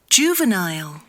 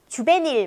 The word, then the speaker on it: juvenile: juvenile, 네, 저 요것도 주베닐 막 이랬죠. 주베닐레 막 이렇게 읽습니다.